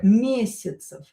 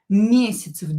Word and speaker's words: месяцев: Some less for example here mesyatsev mesyatsev this ya will be pronounced as i.